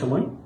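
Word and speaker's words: ثاء: সেখান থেকে তা তা তারপর সা সা সা হরফটি উচ্চারণের সময় জিহ্বার আগা সামনের উপরের দুই দাঁতের আগার সাথে লেগে খুব পাতলা করে উচ্চারণ করতে হবে।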